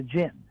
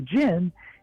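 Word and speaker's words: djinn: honestly is the idea of something like the Gin And if your audience isn't familiar with that you spell that d-j-i-n-n and it actually um it's kind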